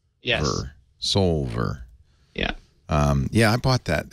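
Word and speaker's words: Soulver: That's spelled S-O-L. S-O-U-L-V-E-R. Like Sol. Yes. Solver.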